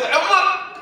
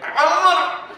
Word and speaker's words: Omar: Like, he was telling me a story, he said, Omar! That's how you say my name. Omar!